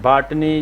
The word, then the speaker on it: بھٹ: بھٹ مؤنث بھٹن، بھٹنی، بھاٹنی یا بھٹانی۔ پہاڑوں میں اس کا تلفظ بھاٹ ہے۔ حصار کے ان 2